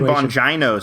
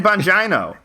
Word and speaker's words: Bongino: uh right-wing fixate dan bongino you know about dan van gina i don't is it bongino it's yeah it's not it's not it's china it's either a hard g or a or a eno uh either way his